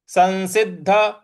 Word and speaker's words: संसिद्ध: देना है तो जन्म संसिद्ध संसिद्ध देखिए स के आगे जो स है वो भी छोटा वाला ही है और स के ऊपर जो अनुस्वार है उसका उच्चारण हमें न ले आना है तो संसिद्ध सं जो